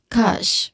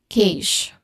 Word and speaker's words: cache: So the common mistake of pronouncing it is cage. C. So sometimes people say it is k or even sometimes people say it is kash kash but yet again the pronunciation is kash kash.